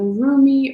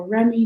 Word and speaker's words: Rumi: This is from the Rumi or Remy, depending on how you pronounce it, oracle deck by Elena Fairchild.